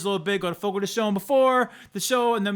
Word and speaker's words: Fogo de Chão: Which, by the way, I always thought it was Fogo de Chão, but back when I was on the radio, we had an endorsement and they made it very clear it's pronounced Fogo de Chão.